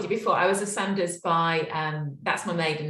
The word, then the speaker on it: Saunders: do you pronounce it so it's pronounced Sanders but I just got